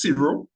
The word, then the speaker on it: Ciro: First things, just to clarify, it's pronounced Ciro.